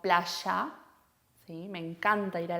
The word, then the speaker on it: playa: No decimos playa, sino playa.